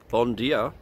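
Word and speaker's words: Bom dia: Bon dia from Portugal. Apparently that's how they say it, not buenos dias.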